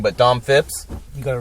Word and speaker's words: Phipps: feel like I say it wrong, but Dom Phipps.